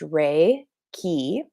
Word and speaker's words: Reiki: is spelled r r-e-i-k-i it is pronounced rey key now it is japanese that's where it originated from this formalized approach to energy healing there are two words in the word rey key key is the second